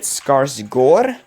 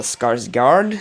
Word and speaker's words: Skarsgård: And of course, Bill Skarsgård, you see, here in Norway we pronounce it Skarsgård, because that A with the circle over it is pronounced like O, but it seems like